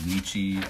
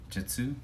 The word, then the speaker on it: 日: The two alternate readings for it. So we had Nichi as the primary Kun reading, and then He as the primary On reading. But occasionally you'll see Jitsu.